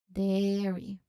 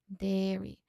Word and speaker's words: dairy: So, there is a long air sound in the first middle. Dairy. Dairy.